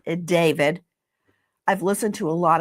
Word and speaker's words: D4vd: It looks like D4VD. It's David.